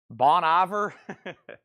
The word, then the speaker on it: Bon Iver: ior or seor Ross what is Bon ior again bony be last time I checked I'm not from France Bonnie ve and and SE seor Ross oh my say that one again Paul Seager Roose uh those will never stick with me I'm sorry we're just gonna have to get over those seagar Ro and Bonnie ver Bon Iver Paul says it's getting